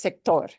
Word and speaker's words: sector: And the only thing, let's make sure with sector, we, you know, because we're used to the word sector, it's sector. Sector. We want to punch.